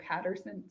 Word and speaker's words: Pattinson: I would say his name like Pattinson.